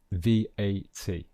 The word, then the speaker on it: VAT: be an initialism and in that case we pronounce each letter separately so we can also pronounce this v-a-t okay so both are